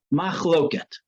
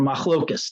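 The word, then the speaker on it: מחלוקת: The halachic process is filled with machloket, or machlokas, depending on how you pronounce it.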